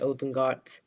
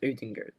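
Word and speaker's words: Ødegaard: it's urjin goat um people say odengat but after looking at his interview yeah he's actually pronounced odingard so i'm going to say odin good so everything good um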